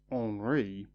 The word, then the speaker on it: Henri: In France his name is pronounced Henri.